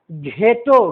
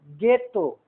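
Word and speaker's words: ghetto: H के बाद अगर H के पहले G लगा हुआ हो तो GH रहने पर H का उच्चारण नहीं होगा। जैसे घेटो, घेटो नहीं पढ़ेंगे, गेटो, झुग्गी झोपड़ी को कहा जाता है।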